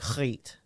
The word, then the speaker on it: Griet: And it was pronounced like Griet. Griet. You have to put the hard G on there.